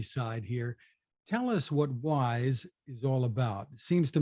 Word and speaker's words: Wyze: marketing officer at a company called wise spelled with a Y and a z thank you for joining